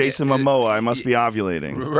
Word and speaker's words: Momoa: Jason How do you pronounce his name? Momoa. Momoa.